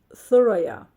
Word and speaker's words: Thuraya: Her name was Thuraya, and she pronounced it like the.